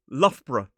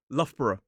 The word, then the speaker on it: Loughborough: Some people will add an extra sound in there, make it three syllables, Loughborough, but a lot of people just say Lough borough. So, the first part, Lough, rhymes with rough or tough.